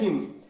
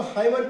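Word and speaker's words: hymn: और बच गया फायर हिम बहुत सारे लोग इसको हाइमन पढ़ते हैं हाइमन गलत उच्चारण देखिए इसमें क्या करेंगे एन को नहीं पढ़ेंगे साइलेंट हिम पढ़ा जाएगा फायर हिम तो फायर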